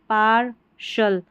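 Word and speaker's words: partial: टी आई एल को शल पढ़ना है।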